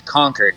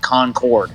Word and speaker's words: Concord: conquered New Hampshire and it's conquered not Concord like conquered like they conquered the city like they conquered the Battle of Rome I'm confused no it's